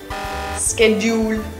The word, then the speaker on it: schedule: We can either say a sh or sk in the beginning of the word. Many native speakers mix it up, but at the end of the word it's not a yul, it's ul.